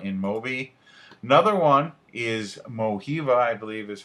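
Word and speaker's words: Mojiva: you check out in moby another one is mohiva i believe is how you pronounce it it's m-o-j-i-v-a they have different mobile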